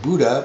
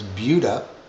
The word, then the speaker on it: Buda: It's spelled like you expect to say Buddha, but it's Buda.